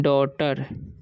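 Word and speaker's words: daughter: ही हैड ए डॉटर, इसे पढ़ेंगे हम डॉटर, ठीक है, जी एच साइलेंट रहता है इसमें, ठीक है।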